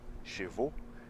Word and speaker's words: chevaux: Cabelos, né, no plural, cheveux, termina com EUX. E cavalo, chevaux, termina com AUX. Então, tem uma diferença na pronúncia. O final de cabelos é E. E o final da palavra cavalos é O. Como se fosse o O com acento circunflexo também.